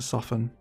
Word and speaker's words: soften: Says it with a T, I pronounce it soften.